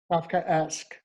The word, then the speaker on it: Kafka: your book bullet to death chris mcnais divorce kafka right it's named for franz kafka he was